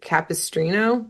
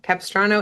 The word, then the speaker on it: Capistrano: And MIJ flies in kind of in passing and she's asking for directions to I think you say it capistrino. Capistrano.